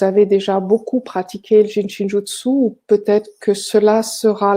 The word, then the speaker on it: Jin Shin Jyutsu: Jin comme un jin, shin comme le pays et jutsu. Il suffit tout simplement de prononcer toutes les lettres et le U se prononce en japonais le U. Donc, Jinshinjutsu.